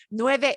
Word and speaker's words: nueve: is ah this is why it's important not to to pronounce the number with a smile at the end nueve has a smile at the end right nueve is nine but nuevo is new as in never been worn okay okay but because